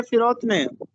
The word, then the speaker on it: فروتنی: لفظ استعمال ہوا ہے فروتنی، درست تلفظ ہے فروتنی، فے کے نیچے زیر لگا ہے، اس کا مطلب ہوتا